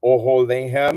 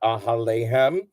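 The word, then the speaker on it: אָהֳלֵיהֶם: So if you look at verse Zion, you have oholehem. It's pronounced that way, not ahalehem.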